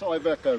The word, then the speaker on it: Iveco: That's Iveco, Mike.